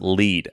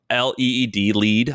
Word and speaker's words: LEED: Have you heard of, I think it's pronounced LEED, LEED? LEED certified, the like green buildings thing.